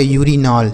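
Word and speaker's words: urine: उच्चारण अ होगा अगर यू के बाद कोई वोवेल लिखा गया होगा तो यू का उच्चारण ना हम यू के रूप में ही कर देंगे।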